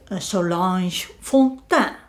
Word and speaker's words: Solange Fontaine: And he talked of the occult detective Solange Fontaine. She is French, so I'm pronouncing it in French.